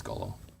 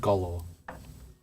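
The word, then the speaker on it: Golorr: the stone of golaur I think it's gollo yes Stone of golor glorial Gola is spelled g-o-l-o-r-r got it there's lots of gold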